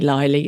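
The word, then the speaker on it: Lyly: Shakespeare's called John Ly I'm going to say liy it's spelled l y l y who compared England to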